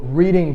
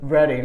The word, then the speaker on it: Reading: You said Reading. It's Reading. like, but it's spelled like reading, Yeah. which is kind of weird. I don't know. The A is silent. Well, I guess it's silent in reading too.